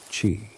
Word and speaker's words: qi: Everything in traditional Chinese medicine begins with qi, pronounced qi, the life force, the subtle energy that animates all living beings.